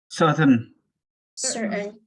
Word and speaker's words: certainly: and pronounce this word certain ly certain so the t a i n is like the n certainly okay next emperor paper